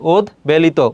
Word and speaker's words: উদ্বেলিত: উদ উপসর্গের সঙ্গে ব থাকলে ব উচ্চারিত হয়, যেমন উদ্বেগ, খুবই গুরুত্বপূর্ণ, এটা কিন্তু তোমাদের আসতে পারে উচ্চারণের ক্ষেত্রে। উদ্বেগ আছে, উদ্বেলিত আছে, কি হবে, উদ্বেলিত, উদ্বেলিত হবে এটা।